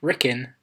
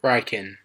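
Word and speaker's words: Rikkin: it's fine to introduce them moving on it's pronounced rickin not riken now this is just a little point that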